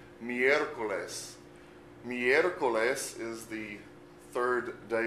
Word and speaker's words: miércoles: Miércoles. Miércoles.